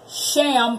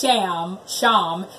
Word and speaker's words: Shem: Also, Shem really is pronounced Sham, not S-H-I-M, but S-H-A-M, Hebrew spelling.